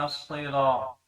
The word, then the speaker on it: الصراط: جلی کی غلطی ہے، اہدنا الصراط، اب یہ صاد ہے، اس کو ہم نے موٹا کر کے پڑھنا ہے۔ اگر ہم موٹا نہیں